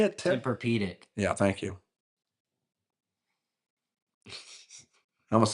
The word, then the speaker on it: Tempur-Pedic: Tempur-Pedic. Yeah, thank you. I almost said tempura.